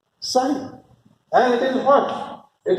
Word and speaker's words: psi: This P is silent. It is psi.